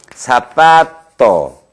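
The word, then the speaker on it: zapato: 세타, 제일 많은 Z, 세타인데 이것은 영어의 발음교의 이런 형태 아니면 뭐 이런 형태로 발음해 주도록 하세요. 예를 들어서 사파토, 이게 뚝뚝 부러지지 않겠습니까?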